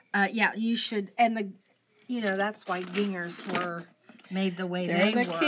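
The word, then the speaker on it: Gingher: a pair of Ginger, is it Ginger? Is it that the right way to say yes, it? Yes, okay. Ginger.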